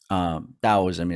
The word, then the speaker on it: Daoism: So through Daoism, or people call it Taoism, Daoism is the pronunciation, but through Daoism, the very first reference to God, infinite intelligence, is done here.